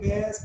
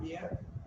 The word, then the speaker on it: bear: The pronunciation is bear, not beer.